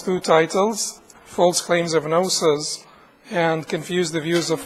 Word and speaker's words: gnosis: The G is silent, so G-N-O-S-I-S.